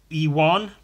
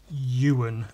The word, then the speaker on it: Ewan: of non-UK, non-European people pronounce my name as Ewan rather than Ewan as it's pronounced.